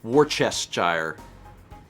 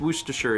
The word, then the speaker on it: Worcestershire: i've also heard people say war chess gyre but those people are wrong that's not that's not correct wooster worcestershire yeah yeah i think worcestershire is the right one but that's not how